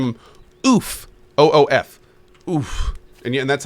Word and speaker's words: Oof: But yeah, if it's a guy, we're gonna name him Oof, OOF, Oof, and that's how you pronounce his name, Oof.